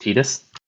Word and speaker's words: Tidus: Other than that, it's pronounced Tidus.